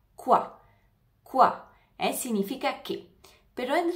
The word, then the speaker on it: quoi: contestarle varias cosas ya saben que la palabra CUA en francés significa que CUA la o y la i da el sonidoa la U se pronuncia como una k CUA CUA significa que pero en realidad en la